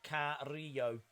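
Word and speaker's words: Carrillo: are well days correction Umberto's last name is pronounced care re yo flip gordon has as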